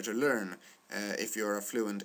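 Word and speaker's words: lilla: Lea and Peter pet what you see and what you hear is that uh in the Lea Lea example there are two l which makes uh Lila pronounced the way it's pronounced with a short vowel uh this these words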